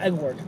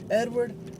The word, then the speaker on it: Edward: My name is Edward, not Eduard.